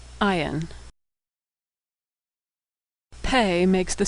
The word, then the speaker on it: Ayin: Ayin is silent like the letter Aleph. Ayin.